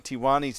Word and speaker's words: Tiwani: to sincerely apologize for mispronouncing Tiwani's name. I had him rhyme with marijuana, Tijuana, but it's Tiwani.